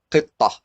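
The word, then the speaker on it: قطة: Otherwise, it pronounces as ta, like qitta. If you stop, you say qitta. But if you continue, you say qittatu Muhammad, for example, Muhammad's cat. Qittatu Muhammad. So because we didn't stop at it, it's pronounced as ta. But if we stop at it, we say qitta.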